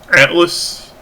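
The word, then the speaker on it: ATLYSS: And lastly on the uh upcoming gaming plans, I'm thinking of playing Atlas and is spelled A T L Y SS.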